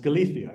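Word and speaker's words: Galicia: La rioa Casia e Galia uh and I don't have a list Galia Galia is pronounced Galia every part everybody in that part of Spain converts a c or a z to a th uh and I say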